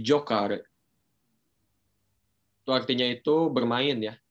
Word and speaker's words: giocare: Di situ ada giocare. Oke, giocare. Ya, jadi pelafalannya seperti itu ya, teman-teman. Bukan giocare. Oke, jadi itu anggap saja si i-nya tidak ada gitu ya, teman-teman. Jadi giocare.